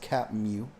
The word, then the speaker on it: CTMU: of the universe or ctmu pronounced cap mu cap mu I guess is the first simulation